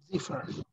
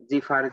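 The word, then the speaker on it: Zephyr: প্লাগইনটার নাম কি আপাতত জিফার হ্যাঁ জেফির হ্যাঁ জিফার জেফির হ্যাঁ আমি হ্যাঁ অনেকে অনেক রকম প্রোনাউন্সিয়েশন করতে দেখছি আমি জেফির বলি ওকে তা আপনি মনে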